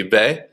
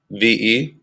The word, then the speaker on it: ve: it'd be it'd be ve, ve. Remember that v is pronounced more like a b.